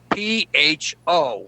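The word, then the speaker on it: phở: She said it's called pho. I said, how do you spell that? And she said, P-H-O, with a little rooftop on top of the O.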